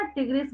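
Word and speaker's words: tigris: टाइग्रिस। कई बच्चे ना टिग्रिस भी बोलते हैं इसको, कोई बात नहीं है, जिसको जो कन्वीनियंस लगे।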